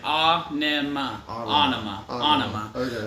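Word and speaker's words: Ænima: adam jones adam jones i watched the video he said i pronounce it it's almost like ah onoma it doesn't matter some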